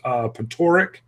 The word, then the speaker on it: Patoric: It's Patoric, and he says it's totally okay. It's a Ukrainian name.